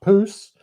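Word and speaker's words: pousse: Now, poose or p u p o u s e uh now is spelled p o u s e is translates loosely as growth spurt something like that.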